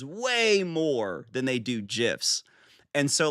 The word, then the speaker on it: GIF: Both GIF and GIF with the hard and soft G are commonly used, but the creator of the file format stated it is pronounced with a soft G as in GIF.